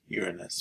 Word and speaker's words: Uranus: cor Now notes on the planet Uranus it's pronounced Uranus by the way and then go ahead and